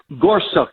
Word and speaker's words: Gorsuch: this is why elections matter how do you pronounce his name is it Gorsuch Gorsuch you did that very well well I'm a